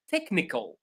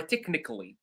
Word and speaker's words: technical: Technical or technically, absolutely. Ch pronounced as k.